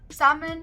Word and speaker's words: salmon: fourth word is salmon salmon is spelled as s-a-l-m-o-n but instead of saying salmon you will say salmon ooh salmon is delicious